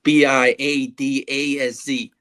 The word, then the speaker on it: Biadasz: Biadasz, I have to learn how to say his name properly. It's Biadasz, but I'm just going to call him the Badass.